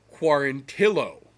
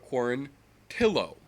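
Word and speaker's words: Quarantillo: been clarified by him quar until o not warranty o as the rest of the world pronounces it based on precedent but corn till oh like Billy says it so okay Billy corn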